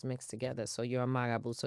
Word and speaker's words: Marabou: Magaboo. Magaboo. So like the R is pronounced as a G. Yes. Magaboo. Like hey Boo.